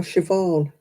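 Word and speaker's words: Siobhan: the Irish names catch me out you know shobon it's written Sayan is it you know you're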